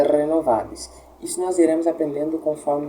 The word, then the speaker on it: renovabis: Como eu sei qual é a tônica? A tônica em latim geralmente é a sílaba do meio, tá? geralmente não é nem a primeira e nem a última, porque, como eu disse, a última nunca será. Geralmente é alguma das sílabas do meio. Então, renovabis aqui, ou seria renovabis ou renovabis. O correto é renovabis.